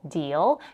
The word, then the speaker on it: deal: In the word deal, we have a dark L at the end, deal. The dark L in English comes at the end of a word or at the end of a syllable. Because the next word here starts with a W sound, the dark L disappears. It doesn't even sound like an L.